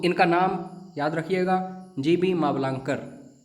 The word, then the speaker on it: मावलंकर: नाम याद रखिएगा जीवी मावलंकर कई स्टूडेंट्स मालवंकर बोलते हैं नहीं जीवी मावलंकर पहले तो उच्चारण सही कीजिए क्योंकि यह क्वेश्चन ऐसी